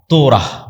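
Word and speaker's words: Torah: তোরাহ বলে ইহুদিরা উচ্চারণ করে যে তোরা যখন তাওরাত দেওয়া হলো।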